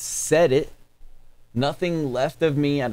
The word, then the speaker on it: Sedit: well done bane is pronounced set it nothing left of me out of stockton california um and it rocks man i'm gonna go 9.1 out of 10.